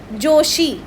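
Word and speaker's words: 女子: यह वाले पोर्शन को मुझे क्या बोलना है जोशी यह है जो यह है शी तो जोशी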